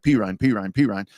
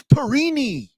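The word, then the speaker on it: Perine: So all season long, I'm like, P. Ryan. And there's a parent beating on the glass window where I'm doing my play-by-play one night. You're saying his name wrong. It's Perini.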